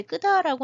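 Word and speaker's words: Kedah: 실제로는 이제 이따가 보실 페낭 근처에 이제 끄다라고 하는 지역이 있는데 이 끄다 지역에는 불교가 좀 일찍 불교와 힌두교가 한 그 5세기 뭐 6세기 정도부터 끄다 지역이라고 끄다는 케다라고 일단 쓰는데 끄다라고 읽습니다.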